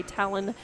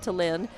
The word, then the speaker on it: Talon: I'm going to say Talon and not Talin, the way it's spelled.